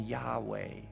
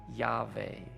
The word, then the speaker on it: Yahweh: Now, some pronounce the name Yahweh or Yahweh, although in many traditions, the name isn't even pronounced because it's considered so sacred, so mysterious, so holy.